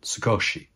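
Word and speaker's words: 少し: than a scotch surprised of course in Japan they pronounce it sugoshi well I spent about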